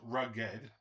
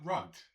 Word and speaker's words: Rugged: It's pronounced rugged, not rug not as in losing money as in rough around the edges going uphill a rugged terrain.